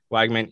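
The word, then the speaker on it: Weigman: Wigman, thank you.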